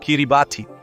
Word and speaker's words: Kiribati: Kiribati. E sim, é assim que se pronuncia.